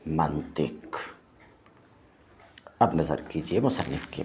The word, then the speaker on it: منطق: بھی واضح ہے کہ کچھ لوگ منطق کی تا کو مفتوح بولتے ہیں، یعنی منطق بولتے ہیں، یہ غلط ہے، اس واسطے کہ لفظ نطق باب ضربہ سے ہے جس کے ظرف میں ما قبل آخر مکسور ہوتا ہے، لہٰذا یہ منطق نہیں ہوگا بلکہ یہ ہے منطق۔ اب نظر کیجئے مصنف